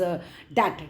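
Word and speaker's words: debt: Tell him हिज डैट, यहाँ पर B silent है, टेल हिम उसको जाके बोलो, हिज डैट is about to be paid.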